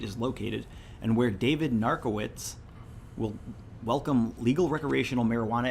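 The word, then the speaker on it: Narkewicz: and the town's mayor his name is narco it's spelled different but narc right right which is like for narcolepsy narcotics oh yeah I think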